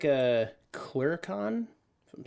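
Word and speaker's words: clurichaun: Oh, actually, there's pronunciation there. Clericon.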